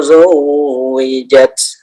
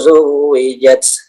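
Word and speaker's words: زُوِّجَتْ: Wa idzan nufusu zuwijat. Bisa ya, bisa seperti itu. Tapi alangkah baiknya ketika menemui tasydid ya, kalian baca kira-kira 2 harokat ya, sehingga membedakan yang mana yang jelas, yang mana yang ditekan ya.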